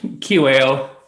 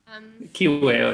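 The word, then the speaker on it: Kiwew: How do you pronounce the podcast, David? Oh, Kiwale. Kiwale, yeah.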